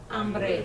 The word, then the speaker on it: hambre: Hambre. Hambre. Hambre, yes? Hambre. Because the H is silent.